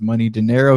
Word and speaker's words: Money Dinero: But yeah, you can pronounce his name as Money Dinero.